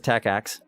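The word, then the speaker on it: TACACS+: axe tacx plus so today this one says tacacs which is how you pronounce it by the way um they just mean tech x plus so nobody's talking about the old tacx these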